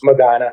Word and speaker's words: Medina: How do you pronounce it? Medina. Medina.